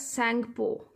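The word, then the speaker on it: Tsangpo: You have to pronounce this word as Sangpo. T is silent here.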